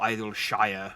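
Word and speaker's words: Idyllshire: maybe it's idol sure or idol shire if you want to pronounce it properly but as someone who lives in a shire i don't pronounce it properly you just pronounce it sheer because it's regional accent that's the excuse i'm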